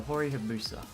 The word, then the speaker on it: Hori Hayabusa: But, today, should you buy this stick, the Hori Hayabusa?